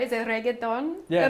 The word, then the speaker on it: reggaeton: Is it reggaeton? Yeah, reggaeton.